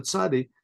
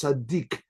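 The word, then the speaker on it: צדי: We said the letter tzadi, sometimes pronounced tzaddik, sometimes it's tzadi. It's pronounced that way.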